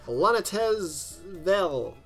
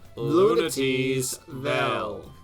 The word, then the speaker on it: Lunatea's Vel: The first of the bunch was Klonoa 2, Lunatea's Vel. I think it's pronounced as it's spelt. Together now. Lunatea's Vel.